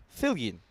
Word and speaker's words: Filan: end of the ninth Filan Filan is the uh is the pronunciation for for Christo just to let you know you say it again Filan okay I quite like Vilan though that sounds good to me I think that's the Spanish coming out of me